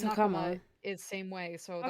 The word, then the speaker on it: hakama: Isn't really a a stressed syllable in Japanese words. So like hakama hakama. However, hakama.